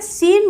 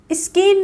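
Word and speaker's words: scene: बाद सी आया तो यहां पे सीन बोलेंगे स्कीन नहीं बोलेंगे इसको कई लोग हो सकता है इसको पढ़ देते हो स्कीन स्किन नहीं होता है इसको सीन बोलते हैं क्योंकि एस के बाद जब सी आती है तो वो साइलेंट रहती है साइंस यह तो मोस्टली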